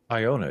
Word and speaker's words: Iona: that I was in I had gone to Iona as well is that how you say it Iona yes Iona okay and Iona is a tiny